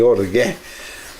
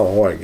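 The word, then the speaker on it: ὀργή: Eu tive pesquisando aqui a pronúncia correta, né, e achei orgué. Já ouvi alguém falar orgue, eu vi um pregador falar orgue, mas tem um acento ali, então ficou orgué.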